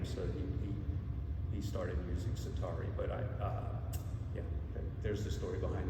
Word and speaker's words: Csatari: The pronunciation is Csatari in Hungarian. It means from the battlefront. But when I was growing up in high school, nobody could say Csatari.